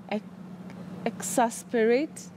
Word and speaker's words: exasperate: Exasperate. Yeah. You'd pronounce it that way?